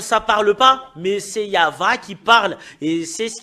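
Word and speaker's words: יהוה: Yava. Rien d'autre que ça. Et Yav, ça parle pas, mais c'est Yava qui parle.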